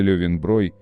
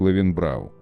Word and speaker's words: Löwenbräu: Произносится Löwenbräu, в России часто неправильно произносится как Löwenbräu.